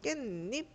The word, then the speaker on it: 깻잎: 니은니은 소리가 추가가 된다라고 하는 거는 언제냐면은 깨하고 입하고 만날 때 그럼 깻잎 이렇게 발음이 나거든요.